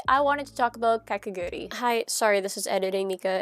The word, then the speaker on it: Kakegurui: Ignore how nasally I sound, I'm sick, but I just wanted to note that I will be mispronouncing the name of Kakegurui. I, for some reason, just don't add in the U.